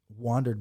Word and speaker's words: WANDRD: One of the reasons that Mike and I like Wandered bags so much, and if you guys try to type it in, it's WANDRD. RD, yeah. Okay, it's not spelled like I wondered what's going on.